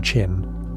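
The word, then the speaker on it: Qin: China is widely believed to derive from Chin, pronounced roughly as Chin, was considered somewhat rough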